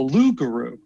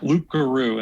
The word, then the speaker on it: loup-garou: Canada, is called the Loup-garou. Right. It looks like loup-garou, and that's a lot of people will pronounce it that way, but I think your French is supposed to be loup-garou.